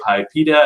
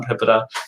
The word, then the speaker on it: PIPEDA: there are people who say pipa and pipetta um and various other alternatives um even within the office of the privacy commissioner that enforces the law i think we hear more than one peninsula pronunciation so i've settled on pipita but i don't need